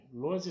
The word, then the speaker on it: Lohse: Luozi se escreve Lohse, se escreve com Z.